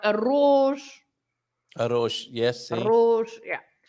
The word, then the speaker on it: arroz: with double R, like arroz. Arroz, yes. See? Arroz, yeah. So when you have an R at the beginning, or when you have a double R, then you should pronounce with this vibration, r.